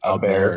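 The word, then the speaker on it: Åberg: Uh, Aberg, Aberg. I saw Ludvig. It looks like Aberg, yeah, Aberg, but it's like Aberg.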